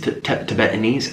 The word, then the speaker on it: Tibet: Chung ch she um comes from tiet or her family is Tibetan I'm sorry that's not how you say it Tibet Tibet and so you know